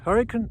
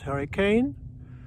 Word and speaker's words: Hurricane: while what it is we pronounce hurricane here as hurricane not as hurricane it's just local quirk i'm here at the